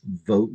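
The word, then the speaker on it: Vogt: the voice engines that the last name vote is pronounced exactly as vote vot with a silent G and a long O.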